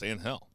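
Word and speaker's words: Ángel: with that first name it's pronounced an hell okay whatever I mean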